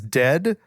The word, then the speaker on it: Dehd: please do good sir the band's name is dead it's spelled D eh h d in case you want